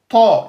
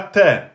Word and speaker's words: ط: On prononce ta en un temps et en emphatique. Donc, ta et pas te.